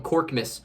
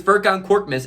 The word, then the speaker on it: Furkan Korkmaz: The Raptors broadcasters didn't know how to pronounce his name, and they literally called him Korkmas for the whole game. And it's just, that is beautiful. That is so beautiful to me, because Furkan Korkmaz is the perfect name for that guy.